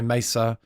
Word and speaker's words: Mesa: know I love my Mesa um I always say it wrong Mesa Mesa Boogie Mesa Boogie not Mesa Boogie I love my My